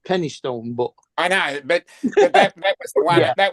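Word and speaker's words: Penistone: never thong never wallet penis Stone yeah I know about penis Stone oh yeah yeah ping actually pronounced Penny Stone but I know that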